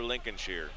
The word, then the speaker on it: Lincolnshire: a nine-point jam for lincol Shear or Lincoln Shire Lincolnshire sh oh I said it right Lincolnshire you can always